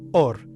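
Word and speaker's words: אור: Se lee de derecha a izquierda y se pronuncia or.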